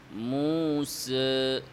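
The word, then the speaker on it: موسى: সচরাচর করে থাকি 161 পৃষ্ঠায় এক নাম্বার আলিফ উচ্চারণের সময় মুখ কাঙ্খিত পরিমাণে না খোলা মুস এই যে দেখেন ফাতহাতে মুখ খুলবে না ফাত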